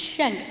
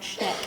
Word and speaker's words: Shank: your last name wrong it's shank not shn I'm sorry so I'd